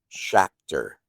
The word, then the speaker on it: Schachter: I don't know if we can dive right in, but um Can can before we How do you say your last name? Shatter.